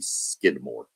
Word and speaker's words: Skidmore: When I was littler and couldn't really pronounce things, I thought it was called Skidmark-Tynan, but it's actually Skidmore.